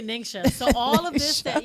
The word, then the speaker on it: NingXia: array of everything and i did want to say ninja but it's not ninja yeah actually ningxia so all of this